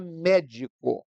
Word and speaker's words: médico: é o caso da palavra médico em que aí a sílaba forte não é a última nem a penúltima é a antepenúltima em outras palavras é a terceira sílaba tônica de trás para frente então a maioria das